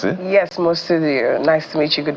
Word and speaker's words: Mostudeo: amundo is the CEO mudio is that you pronounce it yes mudio nice to meet you good morning my name